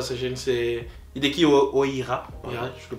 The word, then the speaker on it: Hideki Oira: C'est Hideki Oira. Oira, je le prononce bien. Mais en anglais. Hideki Oira.